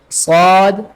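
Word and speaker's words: ص: The sad, it is musta'aliya letter, so read with the bold sound.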